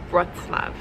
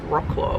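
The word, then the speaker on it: Wrocław: Wroclaw. Look, it's hard to pronounce. All I know is that it's not Wroclaw, which is how it's spelled.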